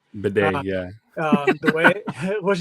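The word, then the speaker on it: Badie: not bad or they the way he pronounces is Bedet. Bedet.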